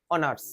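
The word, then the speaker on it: honours: কারণ এইচ এর উচ্চারণটা এইচ এর মতো হচ্ছে না, অ এর মতো হচ্ছে, আর অ মানে ভাওয়েলের আন্ডারে চলে আসছে।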